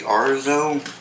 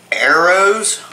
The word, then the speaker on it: Arroz: I guess that's the Arzo. Mm-hmm. Arzo. That's going to bother me if I can't pronounce this, guys. But hopefully. Arroz.